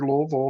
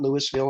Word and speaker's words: Louisville: And that is two syllables if you leave here, Louisville, not Louisville and all those things.